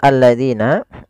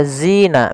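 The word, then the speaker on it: الذين: Kemudian hati-hati pada lafal alladzina Jangan sampai kita membacanya ee zina misalkan alladzina nah ini kurang tepat atau salah Karen Apa karena dia merubah huruf antara huruf dalal diganti dengan huruf Zai maka harusnya bagaimana untuk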